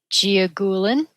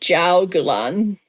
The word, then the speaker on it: Jiaogulan: Yes, it's actually jiaogulan. Is it? According to my Mandarin speaking child who is learning Mandarin in high school, I gave this to her and I said, "How do you pronounce this?" And she said jiaogulan with an emphasis on the gu, which I can't figure out how to say.